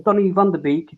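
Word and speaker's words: Donny van de Beek: player but he's making mistakes um van um Donnie vanderbeek that's how you say his name he's brought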